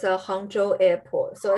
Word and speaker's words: Hangzhou: far that's called forgive me i'm going to mispronounce this the hangzhou airport did i say that right hangshu yeah it's a hangzhou airport so it's the second tier city in